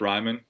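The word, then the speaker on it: Reiman: Ryman? Tip Ryman.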